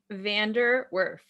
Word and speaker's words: Vander Werff: pronounce it for me vander wurf oh so you know just like it's spelled exactly not even hard nope